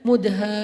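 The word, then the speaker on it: مدهامتان: Bacanya juga harus panjang karena dia rimbun banget. Sehingga bacanya Mudhammatan.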